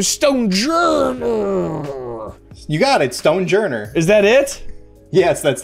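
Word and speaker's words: Stonjourner: say this guy's name soldier you got it stone journey is that it yes that's literally it looks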